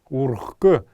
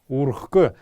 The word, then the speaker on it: урхк: «г» и «х», тогда последнюю букву «х», вот эту вот, мы будем произносить как «к». «Ургх» мы будем писать, «урхк» будем произносить.